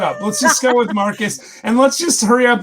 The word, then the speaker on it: Marques: He told me how to say it, and it's Marcus. Marcus, yeah, it's very complicated. It's French, but it's Marcus. It's Marcus. I want to say Marquez.